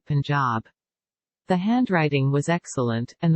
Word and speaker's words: Punjab: day from the Punjab you must pronounce it Punjab the handwriting was excellent